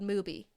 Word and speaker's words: Mubi: Why would I think it's called Mubi? Sounds like booby. Like, or Tubi. Stupid. But anyway, I really don't like that it rhymes with Tubi.